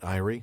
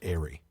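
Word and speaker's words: aerie: I I think the last time I had that word, I butchered it and and called it iie. That's wrong. It is airy. The eagle's airy.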